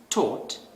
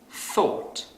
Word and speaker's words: thought: So, a non-native speaker might pronounce this word as taught instead of thought.